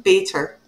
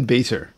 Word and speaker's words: Bator: say her name Bader done there we go see how the stress is all wrong so baiter yes Bader uh where